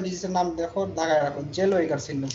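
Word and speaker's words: Zellweger: একটা ডিজিজ হয় ডিজিজের নাম দেখো দাগায় রাখো জেলওয়েগার সিনড্রোম কি নাম জেলওয়েগার সিনড্রোম উচ্চারণ বলো আমার সাথে সাথে জেলোয়েগার সিনড্রোম জেলওয়েগার সিনড্রোম কেন হয় লেখা আছে বোল্ড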